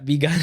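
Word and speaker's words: Bi Gan: Now, Begun is it's B-I. Why you laugh at that, bro? Right, yeah. Because it just sounds like be gone.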